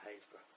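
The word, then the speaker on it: Happisburgh: For our American friends, it's spelled Happysburg, but it's Haysborough.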